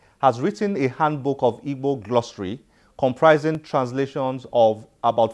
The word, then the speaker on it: Igbo: Igbo here is spelled I-G-B-O.